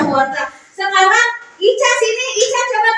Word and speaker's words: wortel: L. Bortel. Bortel. Ya, dibacanya wortel.